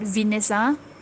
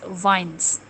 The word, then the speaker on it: vines: Okay, to pronounce this word, okay, this plants, it's not Venus, but it's vines.